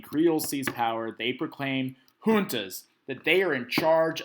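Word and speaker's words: juntas: going to set up what are known as hunas it looks like junas but it's pronounced hunas hunas and these are organizations of military leaders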